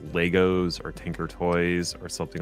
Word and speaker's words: Lego: Oh, it's Lego, not Legos.